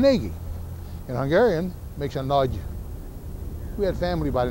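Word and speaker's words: Nagy: Anyway, he is the only one who was was pronouncing his name correctly. It was naggi. They Now, if you pronounce it in Hungarian, in Hungarian, it's pronounced nudge. But never mind that. These uh these sports casters will never get nudge. They can't even handle naggi.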